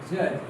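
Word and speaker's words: judge: Retired जज right ध्यान दें जब भी डीजी साथ में होती है तो डी साइलेंट हो जाती है। इसीलिए कुछ बच्चे इसको सोच रहे हैं जेड नहीं डीजी जब भी साथ में होगी तो डी साइलेंट हो जाती है जज।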